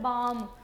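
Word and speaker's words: balm: बाम, बे आम में, इसमें एल आपने कहीं नहीं दिखाना, क्यों, क्योंकि एल की साउंड हमें सुनाई नहीं दे रही, हमें क्या सुन रहा है, बाम, तो ब आ और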